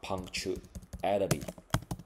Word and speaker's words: punctuality: 要改成重音在尾巴 punctuality，就是守时 punctuality。形容词的部分重音放在开头 punctual，名词变成 punctuality。